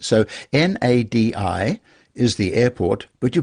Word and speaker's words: Nadi: including the fact that when you get, shall we say, a D in Fijian, you pronounce an N before it. So Nadi is the airport, but you pronounce it Nandi.